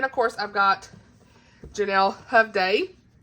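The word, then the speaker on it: Hovde: I've got Janelle Hovday, and that's how you say it, Hovday. Hovday, I don't Hovday. Oh my gosh. See, it's Hovday because I messaged her on Instagram. I said, hey girl, how you pronounce this? Because reasons. And she said she agreed it's Hovday.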